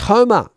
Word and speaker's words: Joma: And Joma is pronounced Homer.